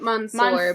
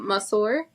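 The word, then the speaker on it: ma sœur: But I think it's Monsieur? Now you make not Monsieur, but Monsieur. It's spelled M-A, then the other word is S-O-E-U-R, but it's like the weird overlap of the O and the E. Yeah, I know what you mean.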